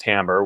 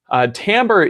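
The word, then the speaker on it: timbre: spelled t IM BR e you know it's pronounced Tambor which i think is a little bit weird but Tambor is essentially the texture of a sound the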